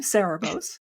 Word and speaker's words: Cerebos: I said it right this time, Cerebos, the Crystal City.